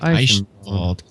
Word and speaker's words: Eichenwald: Eichenwald. It sounds like you're saying icy bald or something along those lines.